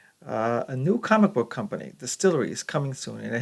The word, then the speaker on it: DSTLRY: its debut this year it's pronounced Distillery uh this comes from